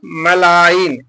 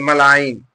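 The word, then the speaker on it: malign: है जी लेटर है जी is silent इन कुछ वर्डों में जी साइलेंट होता है वो क्यों साइलेंट होता है देख लीजिए यहां पर पहले वर्ड को देखिए यहां पर क्या लिखा है मलाइन एम ए एल आई जी एन मलाइन यहां पर बेना यहां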